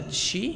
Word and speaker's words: Chi: on the internet um I think it comes from Chinese and the perfect pronunciation would be something like shei like a chi you know but even key is still good I guess um how